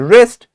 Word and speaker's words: wrist: knitted K is silent in wrist W is silent and knees K is